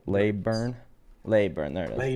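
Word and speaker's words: Leyburn: Leburn was where where we had the resort. Where we had the uh Oh, yeah. How do I spell that? Like layburn.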